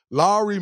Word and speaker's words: Lauri: of the Utah Jazz Lowry marketing for y'all that don't know how to pronounce his name I just got the tutorial Mike Lowry just like the bad boys Larry marketing what's up